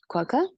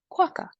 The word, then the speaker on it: quokka: For example, if you think of the Australian animal, a quokka, I said using British English, British, quokka, American, quokka. So you pronounce words differently.